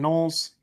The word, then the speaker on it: gnolls: the hands of slobbering gnolls. Sounds about right. Gnolls, my greatest weakness, besides graham crackers. Silent G is my greatest weakness. Yes. Pretty much anything with a silent G.